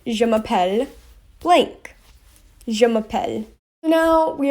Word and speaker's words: je m'appelle: response to it and how you say it is je m'appelle not jay mappel tori if someone says